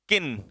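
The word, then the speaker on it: kiln: अगला है इसमें ऑप्शन किन इसमें ल बेटा साइलेंट राहत ध्यान रखना ये ल साइलेंट राहत है तो इसे हम लोग क्या पढ़ेंगे किन और किन का मतलब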